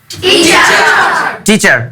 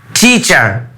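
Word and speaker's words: teacher: অর্থাৎ ইংলিশে যেসব যে শব্দটা আমরা ট উচ্চারণ করি ওটা ট না। এটা হবে ঠ। যেমন আরেকটা উদাহরণ দিচ্ছি। এটার উচ্চারণটা কি হবে বলেন তো? টিচার।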